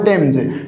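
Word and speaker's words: Thames: क्या है द टेम्स ये टेम्स नहीं है साथियों इसका उच्चारण करेक्ट प्रोनन्सिएशन क्या होगा टेम्स टेम्स क्या है साथियों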